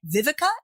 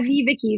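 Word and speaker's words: VivaKi: The Associate Director of Offshore Operations Strategy at Vivica. Am I pronouncing that correctly? At Viviki. So Viviki is an agency that's owned by Publicis.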